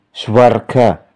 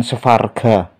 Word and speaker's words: Swarga: Ini dibaca Swarga, bukan Svarga.